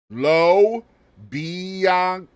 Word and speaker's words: Lo Bianco: pretty smooth my dude all right we're GNA say it piece by piece here to low biano biano that means Tony the